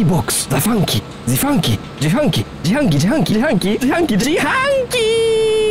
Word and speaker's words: 自販機: You say Jihanki.